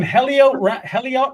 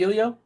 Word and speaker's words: Heliot: Oh, I'm going Heliot Ramos and Jorge Soler. Isn't the H silent? It's not Elio?